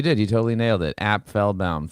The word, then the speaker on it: Apfelbaum: you totally nailed it app fell bound three syllables and by the way